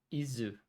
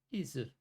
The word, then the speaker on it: Ys: Izu verkar vara det japanska uttalet i alla fall. Om jag uttalar det rätt. Izu.